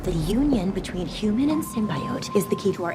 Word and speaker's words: symbiote: And yeah, let's talk about Slate's pronunciation of symbiote as symbiote. Symbiote. Symbiote. Yes, it does sound weird, and according to Merriam-Webster, this trailer caused lookups for symbiote to skyrocket. But they said despite symbiote being the more common way to say it, symbiote is also an acceptable pronunciation.